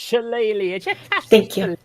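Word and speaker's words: Shillelagh: and then cast uh Shalle on it. I don't even know how to pronounce it. Thank you. It's pronounced challe on your staff.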